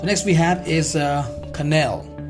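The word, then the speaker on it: quenelle: we have is uh canal it's q-u-e-n-e-l-l-e is pronounced as canal right a dumbling made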